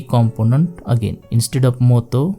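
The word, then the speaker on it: もっと: Instead of motto, because of small tsu, we should pronounce it as motto.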